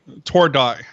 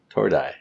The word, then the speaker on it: Tordai: Tordai. Tordai.